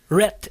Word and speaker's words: Rhett: Et c'était Rat and Link. Rhett and Link.